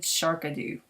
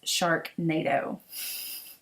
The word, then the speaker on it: Sharknado: and i apologize um i am mispronounced the shark nato kit i said sharkadoo i don't watch it i just thought it was cool and it's sharknado and you know what